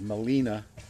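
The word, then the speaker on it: Gmelina: the scientific name is Molina and it took me forever to remember that Molina is spelled with a G the G when you pronounce it is silent and as is the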